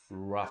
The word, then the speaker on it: rough: And the last word, rough. Notice the GH combination in that word.